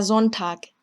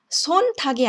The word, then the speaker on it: Sonntag: Der Sonntag, der Sonntag. 자, 지금도 손탁이 아니라 Sonntag이라고 발음한 점.